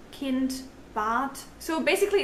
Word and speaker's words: Kind: In German, D is often pronounced as T as well, like in Tod, Kind, Bad.